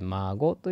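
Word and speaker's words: 馬子: ことねこれは孫馬の子と書いて孫という風にいますねあお孫さん元気ですかの孫とねあの読み方は一緒なんですけどまあ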